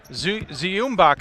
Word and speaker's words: Zumbach: Nice cut to the rim, and quick points for Tyler Zumbach, who checks into the game. Ziumbach, I believe, is actually how you say it. Just like the composer, I love that.